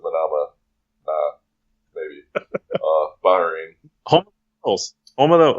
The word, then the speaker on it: Manama: to us now from he says it's manna mob but I'm still gonna pronounce it Manama Bahrain oh oh oh